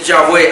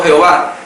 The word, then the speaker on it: Yahvé: chávez la pronunciación de yahvé ahora y no hay lamentablemente y las traducciones hicieron una interpretación una pronunciación mala de yahvé ya ponerle las vocales se le ha llamado jehová lo que gana es